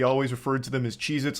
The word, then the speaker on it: Cheez-It: Cheez-Its, and I'm still saying it wrong. Cheez-Its never existed. They have always been Cheez-It, not plural.